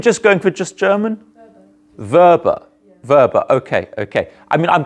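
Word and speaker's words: Weber: a bit more like Vapors sort of Rhymes a bit like sort of Darth Vader because it's a German name who speaks German in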